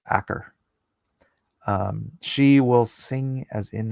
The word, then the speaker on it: Achor: Actually, I think it's pronounced Acker.